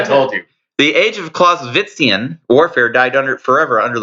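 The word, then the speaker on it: Clausewitzian: do not say that you do not pronounce the w as a w it's a v clause business right you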